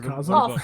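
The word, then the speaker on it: Kazaa: I forgot about kah it's pronounced Kaza I hope you get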